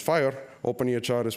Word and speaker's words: FHIR: HR is open EHR just like fhir is pronounced fire open EHR is pronounced